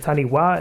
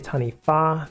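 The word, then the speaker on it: taniwha: But overall, it's jade uh and a tanifa. So, you know, even though it looks like taniwa, it's actually tani fa. Wh in moldi is always an f sound.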